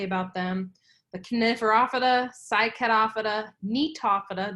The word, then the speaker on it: Gnetophyta: The Coniferophyta, Cycadophyta, Gnetophyta, the G is silent, and Ginkgophyta.